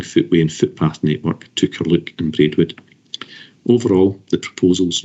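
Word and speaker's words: Carluke: For Bernard's information, the pronunciation is St Athanasius Primary School in Curluke.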